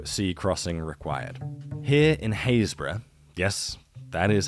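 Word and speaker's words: Happisburgh: island so no sea Crossing required here in hayra yes that is how it's pronounced I know I'm sorry on behalf of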